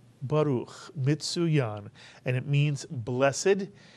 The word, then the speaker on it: Baruch: Two vowels, two syllables. The word is Baruch, Mitzuyan, and it means blessed.